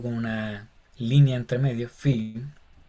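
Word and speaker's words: φῖ: una línea entre medio, Fi, y se pronuncia exactamente igual como nuestra F, como en faro.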